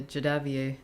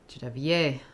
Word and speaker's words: Javier: Um is asking when uh there'll be a a jadabier grammar. Javier. I got to get my stress on that final syllable.